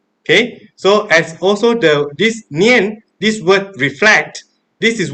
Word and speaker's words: 念: But by looking at this word, the Chinese characters of sati or mindfulness, this word is pronounced nian in Chinese.